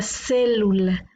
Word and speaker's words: célula: aquí tenemos la palabra célula le vamos a dividir en sílabas de lula lula la sílaba tónica está en la antepenúltima por lo tanto esta es una palabra esdrújula la vamos a colocar